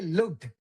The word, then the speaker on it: looked: You need to pronounce the I think I've noticed this before. We need to pronounce the past tense better, right?